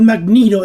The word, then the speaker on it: Magneto: of magnetism the word Magneto existed before the character it's a type of magnet using electrical generator and it's actually pronounced that way it's not the word magnet with an O add it at the